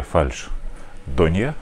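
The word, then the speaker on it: фальшдонья: Но, как говорится, не все йогурты одинаково полезны, и не все фальш. Донья, а именно так произносится это слово во множественном числе.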